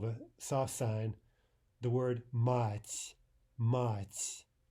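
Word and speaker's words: мать: our ears fool us into thinking, for example, that this sound soft T is ch. That's the first thing many students hear. So they hear the word mать, and what they hear is mach, or something like that, and then that's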